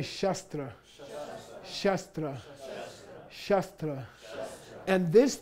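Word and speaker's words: śāstra: talking about okay so this is pronounced as though this were a u in in English Okay say shastra shra shra shra and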